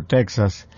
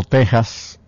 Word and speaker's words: Texas: territorio mexicano estaba texas los mexicanos siempre han llamado texas la equis la pronuncian como j y en una en